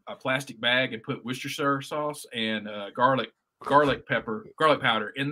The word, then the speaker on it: Worcestershire: Hey, you are one of the first people from below the Mason-Dixon line to actually pronounce Worcestershire sauce correctly. Worcestershire.